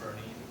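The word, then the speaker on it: Boerne: So that goes up to the Supreme Court in the City of Bernie versus Flores. Yes, it is pronounced Bernie.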